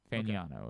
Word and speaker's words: Fagnano: So if you want to give him a leg up because of that, it's Fagnano. Fagnano, apparently, is how they pronounce it.